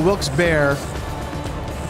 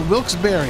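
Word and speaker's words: Wilkes-Barre: wils Berry and I think I called it wils bear there's a lot of debate as to how you uh pronounce that that Town's name and it's literally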